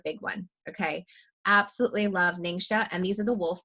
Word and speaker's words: Ningxia: is why it's called Ningxia and you have Ningxia red okay it's often called ninja but I'm Chinese so I have to say it correctly so ningxia is the